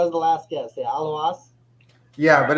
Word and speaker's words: Aluas: Is it a loss? No, not even close. A loss? No, Aluas? Aluas? that's closer. Aluas. Aluas? God damn it, that was the last guess. Yeah, Aluas.